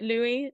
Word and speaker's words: Louis: I literally just asked him how to pronounce his name, and he was like Louis, and I was like, okay, not Lewis.